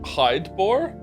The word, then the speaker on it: Hydeboar: Hidebore. And every time the name was on screen, I mentally pronounced it as hi Okay.